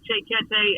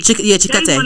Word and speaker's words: Chikete: Like, believe it or not, artists will tell me, I think Che Kete, and I'm saying his name wrong, but Che. Chikete.